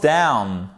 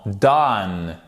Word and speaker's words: done: Wait for me, I'm almost down. Non, done et pas down. Down, c'est en bas, ok?